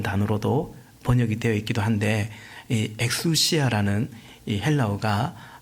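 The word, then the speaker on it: ἐξουσία: 또 아 6절에도 노동하지 않을 권리가 없단 말입니까?이 이 글리라는 말을 어 계속 나옵니다.이 글리라는 단어의 헬라 원은 어 그냥 우리식 발음으로 하면 엑수시아라는 단어입니다.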